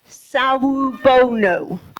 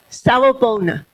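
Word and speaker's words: Sawubona: Do you think you know how to pronounce it? Saona. Is that Is that correct? Am I saying it correctly? Yeah. Okay. Saona.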